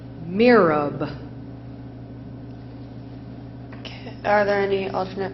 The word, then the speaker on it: mihrab: Mirab. Are there any alternate pronunciations? No, there are not. It is a word from Arabic. It is pronounced mirab.